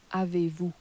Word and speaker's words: avez-vous: Avez-vous. Avez-vous. Now you'll notice that on the end of you, you're no longer pronouncing the S.